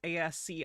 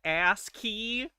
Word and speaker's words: ASCII: Some of the matrix code is ASCII.